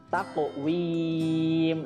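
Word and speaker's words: تقويم: Di situ ada qaf ya. Qaf juga sama qalqalah sugro ya. Jadi harus dipantulkan. Taqwim.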